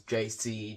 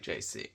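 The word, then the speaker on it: Djesse: reference to his initials JC Jesse with a silent D is pronounced like JC okay so it's JC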